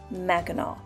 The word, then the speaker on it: Mackinac: The spelling included the silent C that is pronounced aw. Over time, Michilimackinac got shortened to Mackinac.